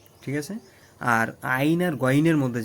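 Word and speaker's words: عين: আইনের উচ্চারণটা কিন্তু একদম শক্ত করে আইন।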